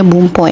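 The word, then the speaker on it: 文法: Bung sama ho ya Ho tapi karena ini e jadi satu kalimat Jadi dibacanya bumpo ya guys Bung ini adalah artinya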